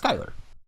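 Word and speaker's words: Schuyler: the the original author is skyler s-e-h-u-y-i-r is pronounced skyler all right oh yeah and according to wikipedia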